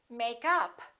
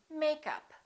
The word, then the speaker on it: makeup: stress the preposition and if it's a noun we stress the first part for example makeup or I'm wearing makeup I'd like to buy